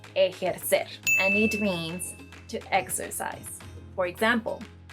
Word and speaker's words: ejercer: Another verb is, no, this is not pronounced ejercer or ejercer. It's pronounced ejercer, and it means to exercise.